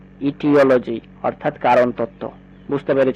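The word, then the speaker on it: aetiology: সৌন্দর্য সংক্রান্ত ঠিক তেমনি করে নিচেরটা দেখো এটার উচ্চারণ করতে হবে ইটিওলজি ইটিওলজি অর্থাৎ কারণতত্ত্ব বুঝতে বুঝতে পেরে নিশ্চয় পরেরটা দেখো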